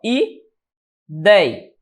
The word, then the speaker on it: ideia: Ou seja, onde é que está a sílaba tônica? Na paroxítona.